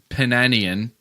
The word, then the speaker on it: Penanian: By the way, his name was Richard Penanian. Huh? Okay. Rhymes with Armenian.